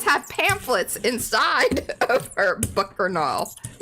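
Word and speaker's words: Bookarnal: Bookernal. Bookernal. Bookernal. Bookernal. Yeah. I really need it spelled spell that for me, please.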